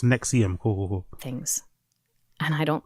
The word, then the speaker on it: NXIVM: Is it pronounced Nexum? Okay, cool. Nexium. Big up Andrew and Coiler. It's pronounced Nexium.